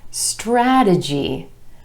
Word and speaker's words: strategy: One more example, strategy, strategy. 3 syllables, emphasis on the a sound in the first syllable, strategy.